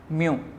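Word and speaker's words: μ: Students ये sign जो है इसको हम वर्ड में प्रोनाउंस करते हैं म्यू।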